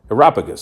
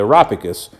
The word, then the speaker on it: Areopagus: So what they did is they took him and brought him to a meeting of the Areopagus, that's how you say it, the Areopagus, where they said to him, "May we know what this new teaching is that you are presenting."